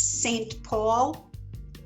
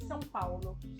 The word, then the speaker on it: São Paulo: Can you spell the name of your city because it's not pronounced the way it looks? Okay, it's Saopaulo. And that would be for English speakers, St. Paul? Yes, it would be, but we say São Paulo.